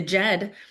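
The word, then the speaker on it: Djed: This is the the the Jed well, it's spelled with a d j e d i, the Jed of Egypt is where uh they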